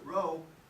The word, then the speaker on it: rho: sloppy p so if you don't like to pronounce it row you can pronounce it sloppy p row is definitely more professional so if you're talking